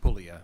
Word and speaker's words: Puglia: It's Puglia, like Puglia. lasagna, right? The G is, we'll make The G everybody is silent.